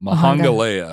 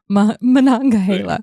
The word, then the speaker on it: Monongahela: Now that you say that, I look at it and it's like, well, that's exactly how it's spelled. So Monongahela. Monongahela. Yes. So all three of those come together. Monongahela.